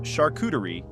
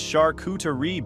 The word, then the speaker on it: charcuterie: At one point during dinner, I mispronounced charcuterie, and Tinsley corrected me in front of everyone. It's charcuterie, babe. The T is soft.